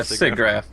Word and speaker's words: SIGGRAPH: Is that how you pronounce it? Yeah, SIGGRAPH.